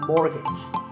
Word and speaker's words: mortgage: to buy a house so which letter is silent here it's the T the first syllable is more and the second is so mortgage number 27 is this